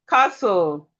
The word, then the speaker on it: castle: We have castle. We have whistle. The T here is also silent.